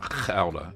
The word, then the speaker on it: Gouda: And he said, this is how the Dutch say it, Gouda.